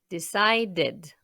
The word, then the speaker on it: decided: They decided. Pour la même raison, on prononce le E avant le D, parce que le dernier son de la base du verbe est un D, donc D, D.